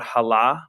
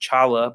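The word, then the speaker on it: challah: type of bread called hala which is a jewish bread i know it looks like it would be pronounced chala but it said and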